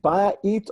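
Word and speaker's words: בית: So again, is it ba'it or bayit, pronouncing house? Yeah, the word for house is bayit. The Y is a consonant.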